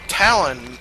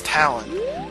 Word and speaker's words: Talon: Anyway, he runs off, and the reason why I'm like 90% sure you pronounce his daughter's name Malin and not Malin is because his name is Talon, not Talon or Talon. So it's gotta be Talon. So I assume they named her Malin because it rhymes with Talon.